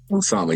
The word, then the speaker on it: Osama: Osama, yes, ma'am.